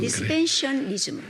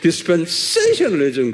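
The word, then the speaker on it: dispensationalism: 디스펜셔널리즘. 한번 발음해 보세요. 세이셔널. 세이 액센트가 세이. 디스펜세이셔널리즘 그래.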